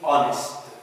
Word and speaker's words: honest: في بعض الكلمات أيضا بنشوفه غير منطوق، like in honest. Honest. We don't say honest. ما بنقولش هنا كلمة honest، بنقول honest كأن الـ H كتب ولم ينطق.